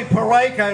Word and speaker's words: Peraica: i didn't think so my name is pereika it rhymes with america can you remember that